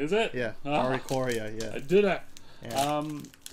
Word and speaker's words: Oricorio: don't even know how to say it name oricorio his yeah that's that's correct is it yeah oricorio yeah I did it um yeah you kind